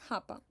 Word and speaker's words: hapa: Okay, so hapa. Now what is you need to pronounce that word as hapa.